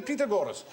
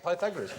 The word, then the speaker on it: Pythagoras: ASK YOUR MATHEMATICS TEACHER is must do the Peter Gorus." And I said, "Are we going to do Peter Gorus?" You go, "Shut up." So Peter years later, I discovered he meant Pythagoras.